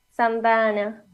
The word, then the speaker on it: Santa Ana: Claro que sí, como él mismo lo mencionó, no sabemos quién pudo haber cambiado ese nombre, porque como lo dice, la pronunciación correcta es Santa Ana, ¿no?